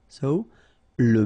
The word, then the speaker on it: sole: La sole, same thing, don't insist on the final E, okay? It only gives you the L sound, sole, l'espadon.